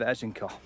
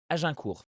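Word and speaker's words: Azincourt: This is where we can guarantee he is not French, because it is pronounced Agincourt. And I don't think there's a single syllable, maybe the A in the beginning, that is correct.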